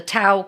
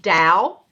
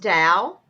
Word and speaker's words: Tao: and it's called the TOA comedy studio is that right Bobby yeah well actually it's pronounced Dow it's spelled Tao but it's pronounced Dow I feel so stupid